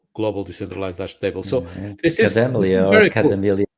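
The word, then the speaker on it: Kademlia: this is Cademelia or very cool. Cademelia. I don't even know how to pronounce that name. It's Cademlia, yeah.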